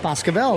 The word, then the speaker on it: Boscobel: Boscobel, there we go.